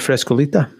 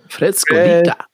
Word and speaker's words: Frescolita: And let's sample a wee bit of Frescolita. And you have to say it like that. Frescolita.